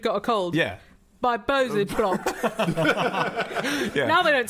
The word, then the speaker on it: Bose: It's Bose. Bose. I've got a pair of Bose. I think it pronounced Bose.